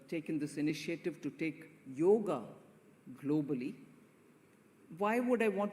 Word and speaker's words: yoga: it so you know yoga the very word we pronounce it in English yoga yog it all comes from